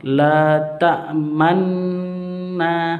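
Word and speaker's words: لَا تَأْمَنَّا: La ta'manna, seperti itu. Memuncungkan bagian manla, seperti itu. Itu muncungkan. La ta'manna.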